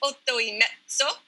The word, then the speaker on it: Otto e Mezzo: In Italian, the title is Otto e Mezzo, and it is pronounced as such.